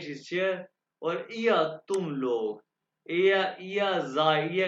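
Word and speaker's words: Lehrer: तो कैसे, जी जिंड लेगा। अच्छा, इसको आपने लेगर नहीं कहना, लेगर नहीं, जर्मन वाले प्रोनाउंस करते हैं लेगा, लेगा।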